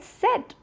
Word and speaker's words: cet: Okay, do not confuse the pronunciation of set with cette.